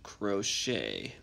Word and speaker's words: crochet: It's pronounced crochet. Crochet. So it's a pretty weird looking word. It's got a CH that's pronounced sh, like SH, and then it's got a silent T, crochet.